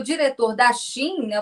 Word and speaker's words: Shein: produto iria aumentar, porque a Shein, essa é a pronúncia certa mesmo, Shein, a Shein, eles vão repassar qualquer tipo de imposto que foi incidido ali sobre a encomenda.